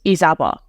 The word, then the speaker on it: Izaba: to my authentic abame pronunciation of my name is isaba which is I understand